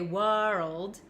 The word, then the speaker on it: world: say whoa world and we don't say world we kind of skip over the W and go straight to R so when I